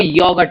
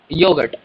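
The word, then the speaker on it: Joghurt: योगर्ट यहां जैसे यहां जे का प्रोनाउंस योट था तो यहां जे को योगर्ट बोलेंगे यो योगर्ट यो के प्रोनंसिएशन एप्पल को आफल आफल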